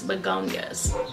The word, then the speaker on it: Begonias: And based on what he said the way that it's pronounced is Begonias.